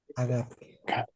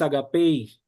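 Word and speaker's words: ἀγάπη: Agape. El acento está en la alfa. Agape. No es agapei. La yota no se no se pronuncia. Es agape.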